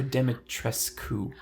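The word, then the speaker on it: Dimitrescu: Capcom themselves lose the U at the end, and it's Lady Demetress. Good girl.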